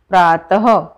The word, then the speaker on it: प्रातः: और इसका उच्चारण कैसा होता है? आधे ह की जैसा। तो इसे हम कैसे बोलेंगे? प्रातः, प्रात नहीं बोलेंगे, कैसे बोलेंगे?